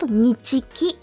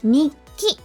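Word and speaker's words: 日記: But it's not nichiki, it's nikki.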